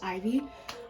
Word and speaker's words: Ivy: Hi, my name's Ivy, and like an I and a V. That's how it's pronounced, not how it's spelled, but you get it.